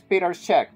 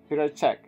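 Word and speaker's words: Petr Čech: players okay okay but this is Peter Che okay or whatever is pronounced Peter check so I will call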